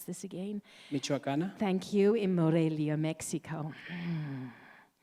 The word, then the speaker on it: Michoacana: He holds an architectural degree from the Universidad de, I just asked how to pronounce this again. Michoacana.